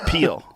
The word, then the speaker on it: Peele: What What What about that show Key and Peely?